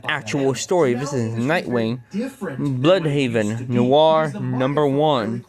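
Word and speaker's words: Bludhaven: How do you say it? I pronounce it as Blood Haven.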